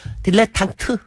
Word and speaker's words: 딜레탕트: 참고로, 발음이 딜레땅트라고 하셨습니까? 딜레탕트. 예.